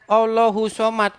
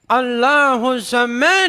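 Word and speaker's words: اللّٰهُ الصَّمَدُ: Saya bacanya begini. Qul huwallahu ahad, Allahu somad. Dimarah saya. Dimarah. Coba Bang, Bacanya bukan coba Bang begitu. artinya Bang. Bacanya harus Coba begini. artinya. Qul huwallahu ahad, Allahu samad.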